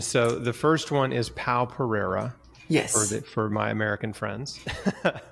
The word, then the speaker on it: Pao Pereira: And so the first one is Pao Pereira.